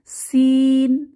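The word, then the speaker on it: سين: এই হরফটির নাম হচ্ছে সিন সিন জিহবার আগা সামনের নিচের দাঁতের গোড়ায় চেপে ইংরেজি সি এর মত সিন উচ্চারিত হবে সিন সিন এটাও সফির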